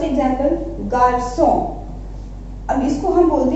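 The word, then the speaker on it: garçon: अगर यहाँ पे हम ये सिंबल हटा दें, से दे, अगर हम यहाँ हटा दें, ठीक है, तो इसको हम किस तरीके से प्रोनाउंस करेंगे, गारको। बट विद से दे, विद एक्सेंट, हम इसको क्या प्रोनाउंस करेंगे, गार्सो, ठीक है।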